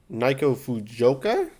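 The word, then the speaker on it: Naoko Fujioka: Her losses include World Champion for the vacant WBO title, Naiko Fujioka, that's how you pronounce it, and Tina Rupchek, the unanimous decision.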